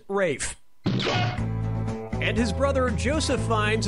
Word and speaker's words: Ralph: roll faster Ralph or Rafe has to Ralph the correct answer is yep ray Fiennes first name is spelled like Ralph but pronounced Rafe and his brother Joseph